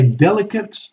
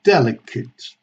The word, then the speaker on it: delicate: When we have these words, the general rule is that when it's a noun or an adjective or an adverb, we pronounce like a schwa or a short e, okay? Both are accepted.